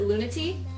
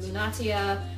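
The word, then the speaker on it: Lunatea: you want to pronounce the name but we pronounce it lunati though other pronunciations could be considered lunaa or luna things like that but as I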